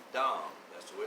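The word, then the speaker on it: דָּם: on mankind the word dom d a m dom that's the way it's pronounced in the hebrew means blood adama means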